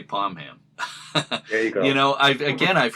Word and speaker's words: Pomham: pronounced it palm hambar hearing that the traditional pronunciation in the East Providence area is palm ham but I've also heard many people in the